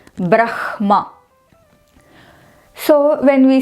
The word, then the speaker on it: Brahma: When ha is joined with any of these nasal sounds, it becomes urasya. Meaning that hakara which is joined with any of the nasal sound must come from the chest region.